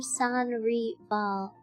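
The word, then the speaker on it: Sans Rival: San reball. Well, the name is French for without rival pronounced in Philippines with slightly Spanish influence phonetic flare.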